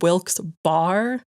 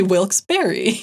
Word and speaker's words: Wilkes-Barre: Yeah, because it's spelled like Wilks Bar, but we did a lot of research and locals say Wilks Berry, right?